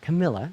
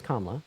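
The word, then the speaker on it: Kamala: why I'm voting for kamla Harris first of all her name is not Camila it's kamla okay Mr gregoryi okay uh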